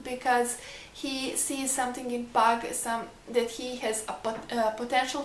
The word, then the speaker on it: Pug: Yeah, no, I think it's pronounced Pug like a dog because it's spelled the same.